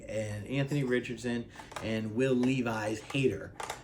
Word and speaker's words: Levis: Anthony Richardson and will Levi's hater yes I know his name's not actually pronounced Levi's it's Levis but I like to